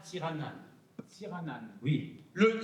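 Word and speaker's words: Tsiranana: Oui, mais on prononce à Madagascar Tiranan.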